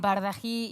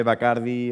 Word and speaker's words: Bardají: de Nuevas Tecnologías en Bardají y Honrado. Sí, es que se pronuncia así. Perfectamente, y además siempre todo el mundo lo dice entre Bacardi o Bajardi, o sea que lo has dicho perfecto.